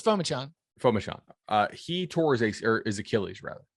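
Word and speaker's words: Phommachanh: So Clemson, in the spring game, Tyson Fomacon, I'm mispronouncing his name. He was their backup quarterback. Because it's Fomachan.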